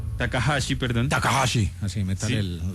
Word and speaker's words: Takahashi: Su nombre es Kenchi Takashi. Takahashi, perdón. Takhashi. Así métale el la pronunciación.